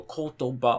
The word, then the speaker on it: kotoba: is a 3, then in your head you have to basically count the syllables and go kotoba, okay, it's after the ba.